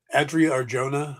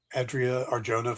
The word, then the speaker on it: Adria Arjona: 3 women have tested for Maxima, and they're Adria Arjona. I think that's how you pronounce her name. Adria Arjona from Andor.